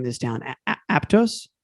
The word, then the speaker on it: Aptos: I don't know how to pronounce the name of this town. Aptos? Aptos.